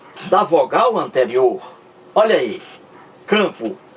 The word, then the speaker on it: campo: Campo. Não é pronunciado. Você não pronuncia esse M aqui de campo. Você não pronuncia como pronuncia o M de merda.